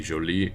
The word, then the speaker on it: jolie: the next one is jolie and it's pronounced the same even with the e Joely Joely Joely and Jolie